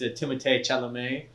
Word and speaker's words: Timothée Chalamet: So our next topic is our boy, or my boy at least, Timothée Chalamet.